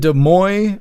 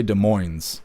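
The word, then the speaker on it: Des Moines: Is it De Moy or is it De Moines? Because these people say De Moines. They pronounce the N. But when we were doing the convoy and all that stuff, we were saying De Mo.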